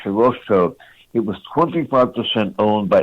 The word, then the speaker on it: Hirohito: That, by the way, is the correct pronunciation of the Japanese emperor's name. It's spelled Hirohito, Hirohito. It's pronounced Hirohito.